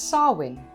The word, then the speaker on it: Samhain: from the Gaelic festival Sahwin. Sahwin is written as Samhain, but it's pronounced as Sahwin.